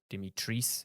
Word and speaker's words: Dimitrescu: You get to see Lady Dimitrescu, or Dimitrice, as apparently it's pronounced.